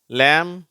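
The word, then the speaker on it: lamb: அதுல wன்ற சவுண்டு வரல அடுத்தது எம் பி இந்த இரண்டு எழுத்துக்கள் சேரும் பொழுது எம் மட்டும்தான் உச்சரிக்கப்படுகிறது பி உச்சரிக்கப்படுவதில்லை வெறும்னா ம் அப்படிங்கிற சவுண்டுதான் வருது வார்த்தைகளை வாசிக்கிறேன் கோ லேம் தம் அதற்கு கீழே உள்ள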